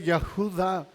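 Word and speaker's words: יהודה: Judas se deriva del nombre hebreo Judá, que se escribe Yahudá. Ya, así, Y-A-H-U, y luego Da, con acento en la D-H, D-A-H, que significa Yahweh alabado, o alabado sea Yahvé.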